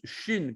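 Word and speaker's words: שין: dessus c'est à droite on prononce chine comme la chine la chine le pays la chine le point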